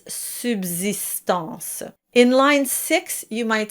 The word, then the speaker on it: subsistance: And watch out for the word subsistance, the second S is pronounced as a Z or Z and it's not as you would expect having the soft S. It's subsistance.